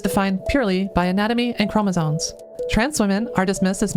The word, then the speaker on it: chromosomes: females, and female is defined purely by anatomy and chromosomes. That part's fine, apart from they can't pronounce chromosomes. There is no N. There is no N in chromosomes.